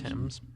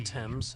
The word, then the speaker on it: Thames: I believe the river's name is Thames. Thames. Thames. Thames. The H is silent.